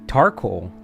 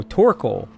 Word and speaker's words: Torkoal: Oh, the reason why I was saying Coracle, that's not how Carcoal sounds, but something that rhymes with it. Tarcoal. No, Torkoal.